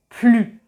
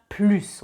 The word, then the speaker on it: plus: Comme je vous l'ai expliqué dans la vidéo sur la liaison, quand on fait la liaison avec un S, on prononce le son Z.